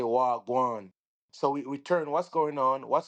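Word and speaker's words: wah gwaan: So, if I say if you say in English what's going on, instead of say what's going on, we would say wagwan.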